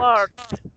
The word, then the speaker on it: worked: Worked. Okay, Remember, forget about the E and just pronounce the D like a T.